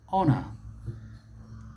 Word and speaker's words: honor: note here is that in that word the h is silent he's silent don't mispronounce